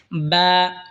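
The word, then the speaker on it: باء: বা দুই ঠোঁট হয়তো উচ্চারণ হবে বা।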